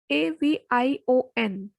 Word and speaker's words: avion: AVION, avion.